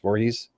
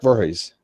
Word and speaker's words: Voorhees: I can't pronounce her last name. Voorhees. Lark Voorhees. Yeah, Lark Voorhees.